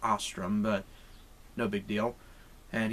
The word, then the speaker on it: Ostrum: mess up or anything, Peter Ostrum, or Ostrom. I think it's pronounced Ostrom, but no big deal.